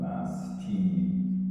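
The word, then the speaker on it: μαστοί: pronounce that like Uh I'm going to pronounce it uh mastoy. Uh I mean, a not a modern Greek person would pronounce this uh mas- team.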